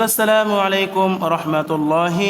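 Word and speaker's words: السلام عليكم ورحمة الله: সালাম দিতে হবে সালামটি শুদ্ধ করে শিখে নিন আসসালামু আলাইকুম ওয়া রাহমাতুল্লাহ আমি আবারো বলছি আসসালামু আলাইকুম ওয়া রাহমাতুল্লাহ বাংলা উচ্চারণ সহ দেওয়া আছে সালামের জবাবে এই দোয়া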